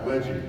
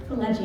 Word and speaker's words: Pileggi: gentlemen, a big round of applause for Mitch Pileggi! Thank you. This is quite loud. It's nice and loud. Welcome, Mitch. We were just backstage and you were helping me pronounce your last name. Yeah, Pileggi. Pileggi, and I finally got it after I wrote